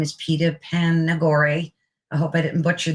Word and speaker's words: Panagore: Panagore. Panagore. It's Panagore. It's a made up Greek name as opposed to an Italian name.